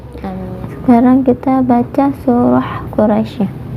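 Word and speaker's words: قُرَيْش: juga di ilafi Quraisy Quraisy rohnya dibaca tafkhim kemudian mulai ini hukumnya nazlin ya Kenapa madlin karena daya sukun bertemu dengan huruf sebelumnya berharakat fathah kemudian disukunkan Jadi dibacanya panjang Quraisy Hai medcline kemudian ada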